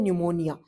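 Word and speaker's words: pneumonia: अब मैंने बोला प्ल्यूरोन निमोनिया। निमोनिया आप बोलोगे मैम एन तो है ही नहीं।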